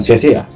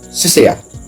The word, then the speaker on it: Seasea: Jadi, sea-sea itu bukan sia-sia. Itu adalah sebuah pelafalan yang terlanjur dituliskan di dalam sarah Indonesia kan. Tapi sebenarnya yang benar itu menurut pelafalan awalnya itu adalah sesea. Ya kalau ditulis itu kurang lebih C ada koma di atas petikan sea, sesea. Jadi bukan pengulangan kata sea-sea. Dan saya selalu memulai pembahasan